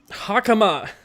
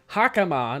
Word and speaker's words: hakama: button in your hammock hakuma i keep getting those two syllables backwards hakama not hamakah why do i think